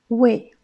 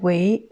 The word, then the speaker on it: 喂: Deuxième mot, c'est wei ou bien wei. Donc c'est deux façons de prononcer aussi.